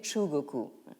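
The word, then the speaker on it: 中国: refuser de la reconnaître comme Zhongguo, en japonais Chugoku. Donc actuellement, le Japon est revenu maintenant à l'ancienne appellation de Chugoku, c'est-à-dire le pays du milieu, mais vous voyez ici quel est l'enjeu justement de la translittération.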